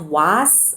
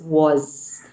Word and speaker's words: was: So was is not was or was or this or any other way. It's was. And can you hear the sound of S? It's got a slight Z sound to it.